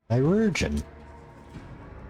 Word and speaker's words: chirurgeon: Kai, Re. Jun, stress on the second syllable. Chirurgeon.